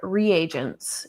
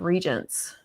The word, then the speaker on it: regents: Oh, one thing about the audiobook was it pronounced them reagents instead of regents.